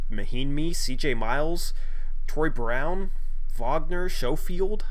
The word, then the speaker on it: Wagner: on the bench because he's definitely a part of their future I like vogner too I think it's pronounced vogner because he's German but he's he's a